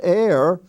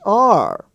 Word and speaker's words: are: a box we have a-r-e which is not air it's r a-r-a-r-e-r like we are